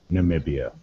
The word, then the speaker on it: Namibia: road nice big way also that's how you pronounce it namibia now me bia there may be a close